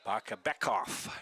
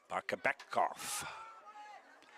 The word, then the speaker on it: Bakabekov: Bakabekov is how we pronounce his last name. Bakabekov.